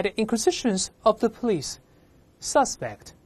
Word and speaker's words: suspect: Suspect 嫌疑犯，注意动词读成 suspect，名词读成